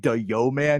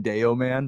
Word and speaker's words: Dayoman: i don't i actually ask for people not to call me yo man because that's even more awkward to pronounce than deo man but uh either way